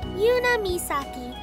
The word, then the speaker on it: Yuna Misaki: Yuna Misaki. See, that would be the correct way to say her name.